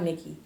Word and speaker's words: Mikky: changing my name like i like mickey but i'm like ah i can't be like you know mickey mouse because that's someone that's somebody else's name for so i decided to spell it m-i-k-k-y so yeah uh the